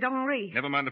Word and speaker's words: Henri: oh yes this is Henry thear he pronounces it hry never mind the pronunciation